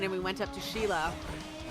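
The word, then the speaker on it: Scilla: And we got on the train and we went up to Sheila. Mhm. which is supposedly, you know, where Skila's was. But it's so cool because like Sheila is like the Italian pronunciation of Skila.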